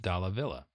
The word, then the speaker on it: Dallavilla: for this arc, Aaron Dallavilla. Dallavilla? Yes. Yes. Aaron I Dallavilla. did pronounce that correctly, right? I said Aaron Yes, Dallavilla. Dallavilla is Dallavilla, the way that he pronounces it, yes.